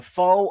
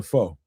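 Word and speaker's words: phở: A fa a foe. A fur, however you pronounce that. A ramen. Uh, you know, huh? It was a foe.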